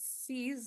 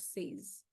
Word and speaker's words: sees: And then also pronouncing the word sees, it's sees, not says.